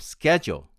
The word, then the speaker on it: schedule: the u is u the american pronunciation of schedule schedule s is ch is k e is our next